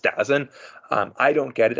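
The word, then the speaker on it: DAZN: televised it with uh d a ZN I think it's pronounced dozen um I don't get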